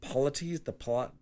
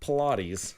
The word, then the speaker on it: polities: The polities, they're not Pilates.